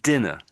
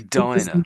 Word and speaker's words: diner: So this You said I think you said dinner. Yes, I did. But it's actually diner.